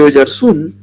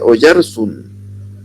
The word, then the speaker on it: Oyarzun: Y resulta que sí, porque oyarzun en España no se pronuncia oyarzun, se pronuncia oyarzsun.